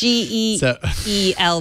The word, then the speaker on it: Geely: Something this like is Geely, not Gigli.